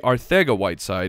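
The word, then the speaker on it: Arcega-Whiteside: be annoying so it it sounds like we people have been pronouncing his name wrong and it's JJ r theta white side with a th sound that is what we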